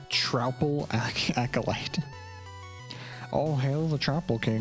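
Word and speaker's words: Troupple: acolyte oh hell the tropel king who yeah that's 15500 I mean yeah who you've never heard of the Trel King half trout and half Apple pronounced like mouthful he's one of the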